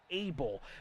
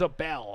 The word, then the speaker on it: Abel: Just pronounce it Abel, but it's spelt Abel. Okay, yeah, see, I thought it was a bell.